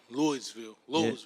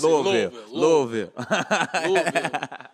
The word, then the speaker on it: Louisville: like right now kentucky lloydsville yeah you got to say it right louisville it's um it's ground